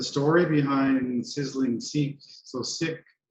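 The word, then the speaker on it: Sikh: name basically the story behind sizzling seats so sick it's pronounced sick which is the the faith or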